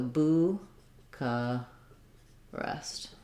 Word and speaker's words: Bucharest: languages so bucca rest we tend to say first syllable stress with the uu vowel